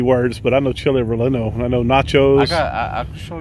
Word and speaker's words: relleno: They got a, look, I always say it wrong, chili relleno?